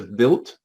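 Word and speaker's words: Wild: the machine on the right there is called or pronounced built but it's spelt w-i-l-d-e it's a built a5 stereo autograph it uh aoc had one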